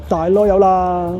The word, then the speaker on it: Dalloyau: Its official French pronunciation is Dalloyau. Say it once, Dalloyau!